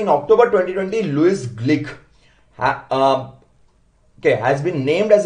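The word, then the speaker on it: Glück: यस, नाउ यहां पर बहुत जगहों पर मैंने देखा लोग ग्लुक ग्लुक कर रहे, प्रोनाउंसिएशन इज ग्लिक।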